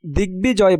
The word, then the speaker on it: দিগ্বিজয়: দিগ্বিজয় বানানে গয়ের সাথে বফলা থাকায় বফলার উচ্চারণ বহাল আছে।